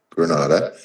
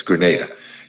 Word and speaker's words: Grenada: as a trade representative for the nation of Granada and or is it Grenada it's Grenada and that's the correct pronunciation and he was appointed to the World